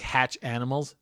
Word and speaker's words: Hatchimals: think it pokes it hatchimals hatchimals yeah it's like hatch animals hatchimal hatch animals Animal hatchimals hatchimals hatchimals yeah I